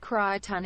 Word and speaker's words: Crichton: It's pronounced Crichton. It's a Farscape Mass Effect reference. Oh, okay, Crichton.